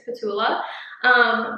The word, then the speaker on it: P'Tula: It is spelled P'Tula. I'm pretty sure it's Petula.